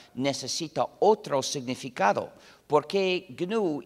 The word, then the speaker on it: GNU: Se escribe G-N-U, se pronuncia en inglés GNU.